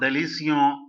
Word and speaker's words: délicieux: Okay, now when you say delicio, this delicio is not having the sound of bon, delicio. No, it is not like that. It is not delicio.